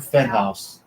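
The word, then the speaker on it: Fenhaus: It's Luke Fenhouse. That's how you pronounce his last name.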